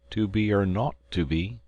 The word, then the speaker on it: 2BR02B: The 0 in the number he pronounced not. The number was 2BR02B.